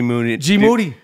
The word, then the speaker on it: Moody: And you and, what is it, G Moody. Last name rhymes with duty.